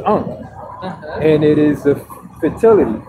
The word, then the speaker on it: ankh: It's pronounced ankh, and it is a fertility for the female.